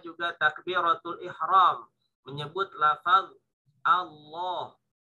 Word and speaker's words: Allah: Allah, bahasanya Allahu Akbar, Allahu Akbar, nah, gitu ya. Jadi bukan A tapi bacanya O. Kenapa dibacanya O? Karena ada huruf di depannya itu tebal sehingga A terpengaruh dia.